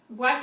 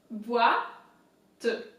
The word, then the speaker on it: boîte: Boîte is box in French. So B is pronounced normally. OI in French is wa. Wa. You know, like think of a dog barking or something. Wa. Boîte. Boîte.